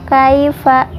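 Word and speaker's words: كيف: Ilham syafawi alam taro Kaifa khai ini dibacanya lunak karena hukumnya Lina daya sukun bertemu huruf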